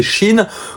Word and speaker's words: Shein: Shine, je crois que ça se prononcé Shine au départ. En fait, c'est Chine comme le pays la Chine.